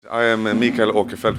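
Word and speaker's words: Åkerfeldt: I am Michael okafelt which is the Swedish way to pronounce my name and I'm the lead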